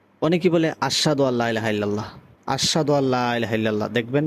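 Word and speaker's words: إلا الله: অনেকে দেখবেন আযানের সময় ইল্লাল্লাহ এই যে এভাবে গুন্না করে এখানে কিন্তু কোন প্রকার গুন্না হবে না যদি শুদ্ধ আযান হয় তাহলে ইল্লাল্লাহ স্বাভাবিকভাবে উচ্চারণ করতে হবে।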